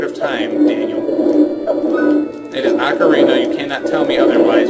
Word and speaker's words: Ocarina: the old word of time Daniel it is Ocarina you cannot tell me otherwise you say it